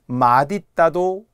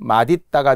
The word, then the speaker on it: 맛있다: 그래서 국립국어원에서 그래 둘 다 인정해 줄게. 맛있다가 합리적인 원칙. 맛있다는 허용으로 봐줘요. 왜?